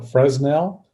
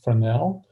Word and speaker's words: Fresnel: I like to joke around and call it fresnell but that's not correct the correct pronunciation is frel and it actually comes from a uh from